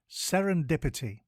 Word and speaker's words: serendipity: time today's word is Serendipity it is pronounced s n Dip i t and it is spelled s e r e n d i p i t y think sarin dip and then ity before we get into